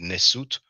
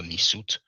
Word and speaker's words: Nesu: Nesu is a Medu Neter or hieroglyphic word for king. Some people pronounce it Nesut or Nisut, but he actually says Nehesu.